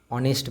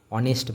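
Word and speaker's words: honest: অনেস্ট ম্যান। এখানে H silent রয়েছে। উচ্চারণটা কোথা থেকে হচ্ছে? এখান থেকে। অনেস্ট ম্যান।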